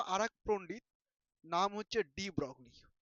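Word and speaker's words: de Broglie: এবার এইখানে চলে আসলো আর এক পণ্ডিত, নাম হচ্ছে ডি ব্রগলি। ডি ব্রগলি, অনেকে এটাকে ডি ব্রয় বলে। কি বলে বলতো? ডি ব্রয়, ঠিক আছে উচ্চারণটা।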